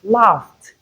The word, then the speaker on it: laughed: Past tense form of laugh is laughed. We have t at the end.